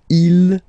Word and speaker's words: ils: Okay, so you can notice that even if you've got this S at the end, and then here you don't have anything, well, you pronounce them the same way.